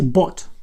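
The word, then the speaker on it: bought: форма в минулому часі бот нам потрібно її вивчити от читайте як пишеться отак от читається як бот Ось і щоб нам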